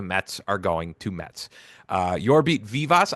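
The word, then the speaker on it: Jorbit Vivas: Yorbit Vivas. I think that's the correct way to say it. You're spot on.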